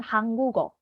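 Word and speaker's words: 한국어: kita akan coba dulu bahasa Korea sebenarnya disebut dengan hanggugo itu diambil dari nama negaranya yaitu hangguk yang ini Oke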